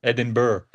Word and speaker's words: Edinburgh: It sounded like you put a G, a hard G at the end. Okay. I'm not Edin Burr. No, no hard G.